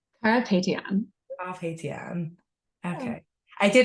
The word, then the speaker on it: Carapetyan: I'm so thrilled to be joined today by Carpetyan. Did I say it right? Carapetyan.